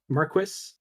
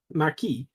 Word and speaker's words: Marquis: Wildbow apparently fails the English pronunciations of these words, like Chevalier and Marquis. There are French pronunciations of them, like Chevalier and Marquis, but you know, I'm fine with English pronunciations.